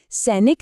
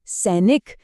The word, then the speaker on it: सैनिक: सैनिक नहीं सैनिक।